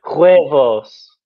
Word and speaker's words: huevos: Huevos, not F. There's no F. Oh, huevos. No, not P. Oh, what is it? Yeah. Huevos.